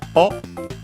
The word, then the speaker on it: を: Then we have the object particle o, written as wo, and pronounced as such in careful speech and singing.